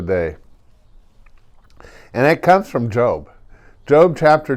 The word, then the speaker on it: Job: are well one of them is job job j.o.b and he has a whole book about him doesn't he and it's not pronounced job it's job and job is just a great